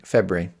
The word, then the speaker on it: February: So what you have to do, my solution with February, is you have to say it wrong, and you just say it as February, which is Febri, February.